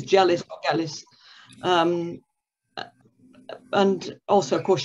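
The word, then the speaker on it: Gellis: you pronounce the name it's a soft g or a hard g because i really enjoyed the novels of roberta gallis and it's jealous um and also of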